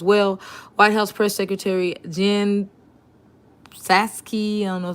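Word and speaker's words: Jen Psaki: white house press secretary jen saskey know the p is silent said friday so this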